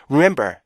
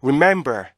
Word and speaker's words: remember: 그랬어요 그죠 그래서 이거를 remember 이렇게 읽어야 되는데 rem remember 그러니까 알 발음도 제대로 안 돼요 중간에 리듬이 없으면요 알 발음에도 리듬이 형성되지 않기 때문에 알 발음은 리듬을 많이 필요로 하는 그런 발음이에요 그래서 이거를 remember remember